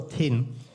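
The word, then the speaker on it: 𡈼: 这个字，不是王哦，它叫做听，读作听，也就是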